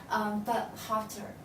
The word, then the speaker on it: Burkhalter: up with a very talented Swiss designer, Stephanie Burkhalter, right? Yes. Is that the right pronunciation?